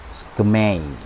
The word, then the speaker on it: SKMEI: jam tangan mereknya itu ini bacanya agak susah karena tidak ada huruf vokalnya ke Mei skmei ini salah satu